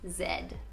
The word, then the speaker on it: Z: we say z but here it's zed so that one's not really a word you know a part of the slang but it is something i noticed to be totally different than how americans say z here it's zed comment